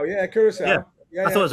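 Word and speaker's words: Curaçao: Is it Curacao? How do you pronounce it? Curacao, yeah, Curacao.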